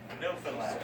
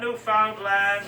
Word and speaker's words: Newfoundland: and it is pronounced Newfoundland. Not Newfoundland or Newfoundland.